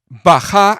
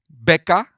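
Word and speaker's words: Baca: of all you eat the odd baja is the actual pronunciation of the place in hebrew that doesn't remind in the slightest mecca you imbeciles red baja you thought it pronounced becca and then assumed allah has dyslexia and meant mecca so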